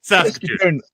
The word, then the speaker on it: Saskatoon: How do I pronounce it? Yeah, Saskatoon.